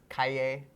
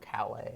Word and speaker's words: Calle: I like the Latin pronunciation there with the double L, Calle Street, not Calais. Not Cali.